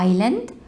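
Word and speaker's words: island: معايا كلمة جزيرة معناها ايلاند ايلاند، ناخد بالنا من الاس سايلنت ومش منطقها، ايلاند ايلاند ايلاند، مجموعة جزر يبقى اقول عليها جروب اوف ايلاندز جروب اوف ايلاندز جروب اوف ايلاندز.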